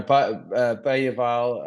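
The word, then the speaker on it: Bergvall: box but you know bayal um if that's how you pronounce it I think that's did hear that that's how you're supposed to do it but I'm going to stick to bergville because it's easier for me yeah definitely easier yeah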